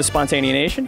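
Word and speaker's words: Spontaneanation: And you are the host of Spontanea Nation, correct? That's correct. Bless you for pronouncing it correctly.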